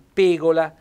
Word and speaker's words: pegola: vuol dire anche sfortuna quindi pegola a 100 tonico sull'aereo sulla e e accento fonico chiuso perché senti sporcarvi le